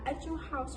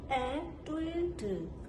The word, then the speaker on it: Etude: Most of us in Myanmar pronounce it as "Etude House." However, Korean people don't say "Etude." How do they pronounce it? "Etu-deu."